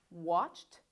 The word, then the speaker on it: watched: The final ED is just sounding like T with no extra syllable. This one is kissed. This one, watched.